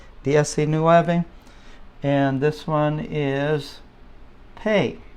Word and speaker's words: pe: and this one is pay all right I need to pay your rent pay okay then veinte